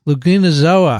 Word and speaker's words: Euglenozoa: Euglenozoa? Euglenozoa. That's how I would say That's it. better because euglena, everyone knows, right?